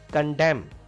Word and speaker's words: condemn: Condemn. N is silent here.